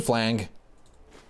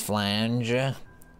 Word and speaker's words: flange: Tube flang. I hope there's a comment. It's pronounced flange.